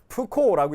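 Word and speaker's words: Foucault: 불어여서 좀 힘들죠. 푸코라고 읽는데요.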